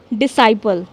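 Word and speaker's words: disciple: क्योंकि यहां पर एस और सी साथ में आ रहे हैं। इसलिए हमने सी को क्या कर दिया? साइलेंट कर दिया। तो हम इसको कैसे बोलेंगे? एक बार मेरे साथ बोलिए। डिसाइपल।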